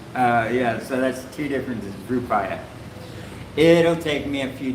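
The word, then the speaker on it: Rupiah: Rupaya, that's it, sorry. Yeah, so that's two differences, Rupaya. It'll take me a few days before it gets in my head. The Rupal was because kind of I guess my mispronunciation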